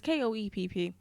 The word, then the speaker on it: Koepp: writing books takes time, Steven Spielberg and David Koepp, I think that's how you pronounce that guy's name, who was one of the writers. I don't know. Sorry, it's Koepp. They were already... Cop.